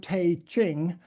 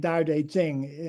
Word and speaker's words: Tao Te Ching: mind I call the Taeqing. Um, but of course even saying Dao Deing I know is is only an approximation to the correct transl correct pronunciation but it's still closer than Taqqing.